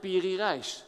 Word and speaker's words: Piri Reis: map making so this is the map of piri Reis so I pronounced it right yeah beauty - yes he